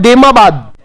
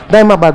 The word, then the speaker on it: देमाबाद: इसको कई-कई जगहों पर दायमाबाद लिख दिया जाता है। क्या लिख दिया जाता है? दमाबाद। वो तो अपना प्रोनंसिएशन होता है ना उच्चारण। उसके आधार पर विद्या जो है विद्वान अलग-अलग लिख देते हैं। दायमाबाद, दमाबाद। जबकि हम पढ़ेंगे देमाबाद।